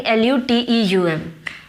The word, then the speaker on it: luteum: Corpus लूटियम, लेट me check the spelling, LUTEUM.